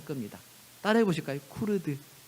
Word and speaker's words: 쿠르드: 크루드 교회에 관한 이야기를 할 겁니다 따라해 보실까요 쿠르드 예 발음이 좀 어려운데 쿠루입니다 크루드 어떤 분 제가